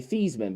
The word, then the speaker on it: Theismann: No different than Joe Theismann, who used to be Thiesman, but he became Theismann, so he could try to win the Heisman.